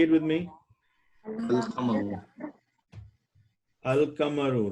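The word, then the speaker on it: القمر: Al-Qamaru. Al-Kamaru, right? So what Yeah. did we pronounce the al?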